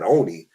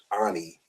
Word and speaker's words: Ani: I thought he said Oni, but he, you know how we have that Southern dialect. He really meant Ani when he was pronunciating the word.